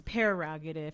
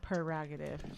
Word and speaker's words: prerogative: prerogative sir well at technically my speech we've actually been saying it wrong it's pararogative it's not prerogative my speech yeah i'm